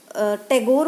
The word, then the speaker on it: Tagore: सभी बच्चे इसको टैगोर बोलेंगे, प्रोनाउंसिएशन में गलती नहीं करोगे।